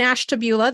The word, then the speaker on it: Ashtabula: talked about in what they were doing in Ashtabula that's what Dr Potts taught me how to